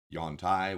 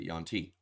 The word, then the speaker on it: Yuan-ti: And the Yuan-Ti. Yuan-Tai, Wan-Tai, however you want to pronounce it. I believe 5th edition pronounces it Yuan-Ti.